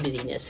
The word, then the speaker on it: business: And a bunch of ferrets, a group of ferrets is called a busyness, or it's spelled business but pronounced busyness historically, of ferrets, because they just kind of look like they're up to something all the time.